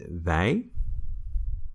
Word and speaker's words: wij: We is wij when it's emphasized. It can also be the. So it's written exactly the same as we, but it's pronounced the. When it's not emphasized, you can simply say we instead of wij.